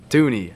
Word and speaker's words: Thuney: who i have okay first i got joe dunny how do you say his name he's going to the chiefs dooney yeah thank you um to the chiefs five-year